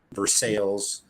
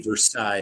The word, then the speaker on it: Versailles: I'm below that in Versailles, which is west. Any other state would be Versailles, but because it's Kentucky, it's Versailles, and then you add a syllable and you say Versailles.